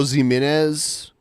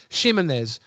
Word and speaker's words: Ximénez: Is it Pedro Ximénez or Jimenez? I don't know how it's I pronounced. think it's an H sound. Okay, so especially because you pronounce it Shay. Ximénez.